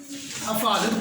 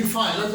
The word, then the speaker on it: حفاظت: نیچے زیر آئے گی۔ حفاظت پڑھتے ہیں جبکہ ہا کے نیچے زیر آئے گی، حفاظت ہوتا ہے لفظ۔ اگلا جو ہے بگار